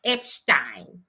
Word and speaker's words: Epstein: Tomorrow I shall try to film Epstein. Epstein. I got to pronounce Epstein the way I I was taught to in my British education.